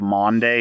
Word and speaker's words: Maundy: The day is the Thursday before Easter, which is very confusingly called Maundy Thursday. Which It's the Thursday before Easter. yeah, we'll just call it. It's spelled Monday. Maundy. Maundy Thursday.